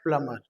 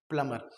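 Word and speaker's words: plumber: तो उसमें हम लोग बोलते हैं प्लम्बर। क्या बोलते हैं? प्लम्बर। बोल करके जरूर देखिएगा, प्लम्बर बोलिए, प्लम्बर। कर्नल, स्पेलिंग होती है COLONEL, लेकिन बोलते हैं कर्नल, CHAMPAGNE।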